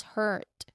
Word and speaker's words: hurt: So this vowel sound is a mid-central vowel, meaning it's similar to the sound in the American English word like bird. But it's sometimes, a bit more drawn out. So it's pronounced as hurt with a specific vowel sound in the middle.